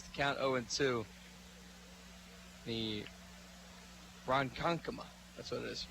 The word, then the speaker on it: Ronkonkoma: called strike makes the count Oh into the Ronkonkoma that's what it is Ronkonkoma oh it to the counter is the pitch